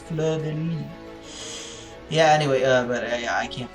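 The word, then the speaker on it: fleur-de-lis: It is not Fleur de Lis in French. It is pronounced Fleur de Lis.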